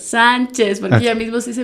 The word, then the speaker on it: Sánchez: apellido, que son las Chanches. Okay. Entonces yo le digo, no importa cómo te digas, solo vamos a pronunciar juntas Sánchez, porque ella mismo se dice Martina Sánchez, pero ¿por qué uno puede?